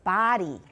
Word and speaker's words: body: is the longest and that is the vowel of body it's an ah so it's body everyone body of the